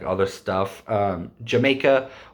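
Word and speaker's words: D'yer Mak'er: like other stuff um jamaica or dyer maker if you don't know how to pronounce it it's pronounced jamaica um but it's spelt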